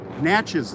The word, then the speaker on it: Natchez: And then like Natchez City, oh, somebody just sent me money. Natchez City, when I did Dandelion, $5, thanks. When I did Natchez City, I was like, Natchez, like matches, like striking matches.